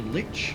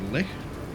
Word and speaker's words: lich: Cassandra is a lich, or a lich, depending how you want to pronounce that word.